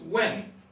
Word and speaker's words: 问: The first one is pronounced when, and it means to ask.